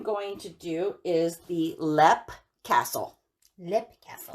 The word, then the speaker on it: Leap: to do is the lep castle lip castle and it's spelled l-e-a-p like leap but it's called lap and we will start